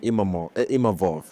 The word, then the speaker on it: Imavov: Like, I'm making history even when I lose, and I'm grateful to even Nasruddin Imavov, sorry, I learned how to say his name